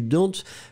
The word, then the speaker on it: dont: Remember that you don't really pronounce the E, the final E, that strong.